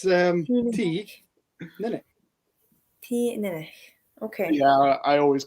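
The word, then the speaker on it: Teaninich: It's T-Ninnick. T-Ninnick. Okay. Yeah, I always go. But then you emphasize the A, I think, so it's T-Ninnick.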